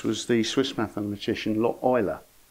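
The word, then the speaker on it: Euler: of all this was the Swiss mathematician lot Oiler pronounced ula in the imitation game but Oiler is the correct pronunciation and that value 1769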